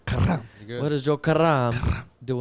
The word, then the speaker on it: Karam: Karam.